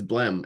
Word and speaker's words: Blehm: It's not a common name with that silent H at the end, but a lot of them changed when people came to the US and immigrated from wherever.